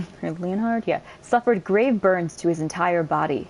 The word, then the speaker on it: Leonhard: of ring finger Leonard I keep saying his name wrong so just deal with it sorry in his youth Leonard leonhard yeah suffered grave Burns to his entire body